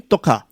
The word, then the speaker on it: Tuqa: How do I pronounce that name? Toka. Yeah, Okay, how are you doing?